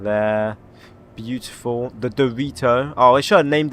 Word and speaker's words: Dorito: The Doorto. God, that's criminal to say it like that. Dorito.